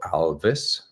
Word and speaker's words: Alvys: I always say well I want to sound like Elvis uh many times I just love uh what Elvis did to uh rock and roll and that's exactly what Alvis is doing to TMS